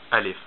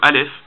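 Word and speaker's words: ا: just a straight line alif and alif it makes the sound it's like the letter a in latin it makes this sound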